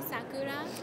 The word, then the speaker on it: Sakura: Well, in Japan, they say Sakura.